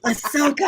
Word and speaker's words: Ahsoka: You know, say it right, Ahsoka.